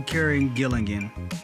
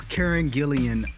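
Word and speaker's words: Karen Gillan: That is definitely Karen Gilligan. I'm probably saying her name wrong. Karen Gillian? Karen Gillian. That is Karen Gillian underneath that makeup and that head sculpt.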